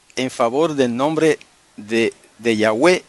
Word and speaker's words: Yahweh: base para entender que la forma antigua y correcta del nombre sagrado es Yahweh, solamente que se puede pronunciar Yahvé, si usted quiere, según el hebreo moderno, pero el hebreo antiguo era Yahweh.